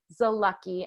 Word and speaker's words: Zalucky: You can follow on Instagram at Zalucky, and it's spelled. Last name is Z-A-L. It's like Z-A and Lucky, right?